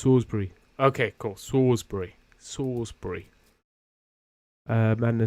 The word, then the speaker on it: Salisbury: it wasn't it was actually Salisbury um okay pronounce sbur okay cool sawbury sawbury uh Mana says ring of salt sound